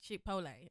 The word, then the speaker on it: chipotle: chipotle first of all get get my baby pronouncing right chipotle okay it's a mandarin